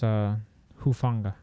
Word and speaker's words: Hufanga: Let's pronounce his last name, Hufanga. With him out, that secondary is even weaker now. It's Hufanga.